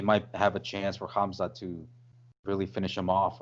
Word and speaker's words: Khamzat: With him and Hamzat, hopefully I'm pronouncing it right. You're saying, yeah. K is silent.